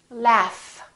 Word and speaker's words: laugh: give you another example the word laugh this gh is actually an f sound right there's no vibration